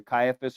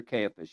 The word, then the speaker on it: Caiaphas: high priest that year it's either Caiaphas or campus you can pronounce it either way it's correct now it was Caiaphas